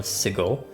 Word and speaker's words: Sigil: reliable this is, but what I found was that uh um I mean obviously sigil is a English word which means something in a specific pronunciation um but the people behind uh Plscape one of the people uh mispronounced it and it became like an in joke and so they went with Sigle as the name of the city and even made it